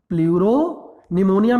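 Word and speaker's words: pleuropneumonia: प्लूरोनिमोनिया, प्लूरोनिमोनिया में P silent है, प्लूरोनिमोनिया like organism.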